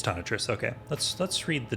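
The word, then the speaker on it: Tonitrus: is wait is it I always say it wrong is it tanatress or is it uh it is ton of Tris okay let's let's read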